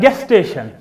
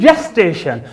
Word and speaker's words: gestation: n most of the students and most of the readers read it just like guest station no my dear students this is not gas station this is gestation so we have to